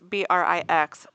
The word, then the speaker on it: Brix: have Lisa, is it Bricks? Yep. Is that how you say it? It's Brix, not Bricks. In case anybody said needs the to same. spell it. Said the same, not spelled the same.